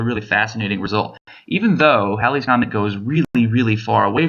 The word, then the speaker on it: Halley's Comet: to a real example halley's comet and it pronounced halley's comet by the way this is one of those